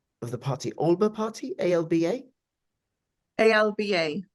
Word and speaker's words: Alba: the party Alber party Alba Alba alip Al the Scott pronunciation is aliper alipa okay all right what's